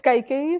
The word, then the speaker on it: Kaikeyi: It's Kaikeyi, so you're getting it right. Oh, okay, I'm pretty close. My K's are a little too far forward. They're not quite glottal enough.